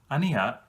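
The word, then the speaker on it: Aenea: out with a bang amia as that's how I've learned Dan Simmons pronounces it is a very interesting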